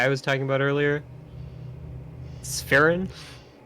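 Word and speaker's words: Sphyrn: the spelling on that one uh s-p-h-y-r-n it's fahrens yeah um yeah uh he's like yeah boring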